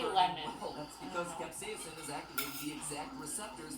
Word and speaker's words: capsaicin: And yes, I'm pronouncing it capsaicin because that's how Merriam-Webster told me to pronounce it, even though I've never once heard anyone in my life pronounce it that way.